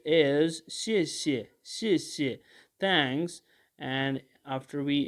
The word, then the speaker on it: 谢谢: a word like this the first word is having fourth tone and the second word is this so it is having a fifth tone a neutral tone and it can be pronounced is shishi shishi thanks and after